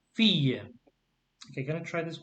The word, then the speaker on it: fille: The T is silent. So et 2 filles.